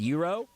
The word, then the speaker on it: gyro: I've gotten confident about pronouncing GYRO as Euro.